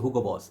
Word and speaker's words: Hugo Boss: hugo boss just say some people say hookah boss i think uh steven says hookah boss so i think that's the proper way to say but i